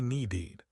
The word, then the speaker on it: needed: Think about need. It ends in d. You can't say needy. It sounds weird. So, we say needed.